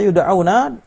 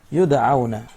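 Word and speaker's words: يُدْعَوْنَ: Kata yud'auna, cara membacanya bi dhammi awwalihi. Awalnya di dhammah, ya-nya di dhammah, berarti ay yunadauna au yusammuna. Karena ini bisa dibaca yad'una, maka beliau menjelaskan bahwa ya-nya di dhammah, yud'auna.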